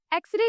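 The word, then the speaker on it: X-ray: एक्सरे जो है एक्स तो भले ही कंसोनेंट है लेकिन जो उसका प्रोनंसिएशन है वो ए एक्स एक्स।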